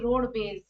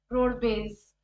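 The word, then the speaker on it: Rodbez: roadways as Road B Road Bas like this so that's how they named this company Road B base because it's the pronunciation is similar to roadways but actually if you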